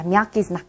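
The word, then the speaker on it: мягкий знак: 얘는요 myaky znak이라고 읽습니다. myaky znak.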